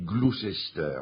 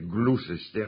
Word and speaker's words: Gloucester: Ça s'écrit Gloucester. Mais voyez-vous, pour parler anglais, il suffit de mettre une pomme de terre bien chaude dans sa bouche. Vous essayez de dire Gloucester et vous dites Gloucester.